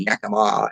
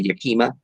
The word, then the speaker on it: Yakima: you've got pure alepp and yakima and all the time people say yukima uh when they look